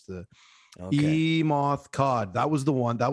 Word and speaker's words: Kade: yeah they keep saying cod but it's spelt k-a-d-e so i'm like okay some